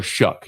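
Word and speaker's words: Shough: Tyler Shuck.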